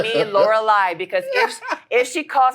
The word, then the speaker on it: Lauralie: okay no um so my name is French it's laurali that's how you say it in French laurali so it's it's spelled IE in English you guys say laureli you would read it that way if it was l e you would read it Laura so you you you